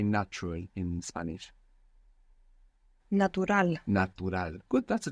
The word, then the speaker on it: natural: a u is like natural very good and the accent on the end as well it's natural it's natural isal if